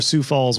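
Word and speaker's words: Sioux Falls: a quick check you're on page two for sou Falls web designer um is that how you say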